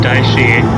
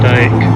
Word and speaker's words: Dicey: It's Sean Dicey, not Sean Dyke. I will pronounce it Dicey from now on. I was not aware how to pronounce it.